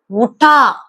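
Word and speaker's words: उठा: சோ எழுந்தேன் அப்படின்னு சொல்லும் போது உட்டா, உட்டா. எழு, கெட் அப் அப்படின்னு சொல்லும் போது உட். சோ எழுந்தேன் அப்படின்னு சொல்லும் போது உட்டா. இங்கேயும் இந்த ஹைச் வந்து silent. So we have to pronounce like wood, உட்டா, உட்டா.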